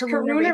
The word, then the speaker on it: Karuna: What is the standout or the difference with, is it Karuna? Am I saying it right? With the Yes, Karuna Karuna Reiki is Reiki of divine compassion.